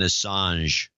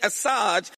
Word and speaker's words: Assange: with Hillary losing and then she guesses interesting mispronunciation of Julian Assange this facade I soaked with WikiLeaks Julian Assad wait a minute not now you're competing with